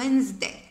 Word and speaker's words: Wednesday: Wednesday كيف ما نقولوش Wednesday، نقولو Wednesday، يعني هذيك دي ما تتنطقش.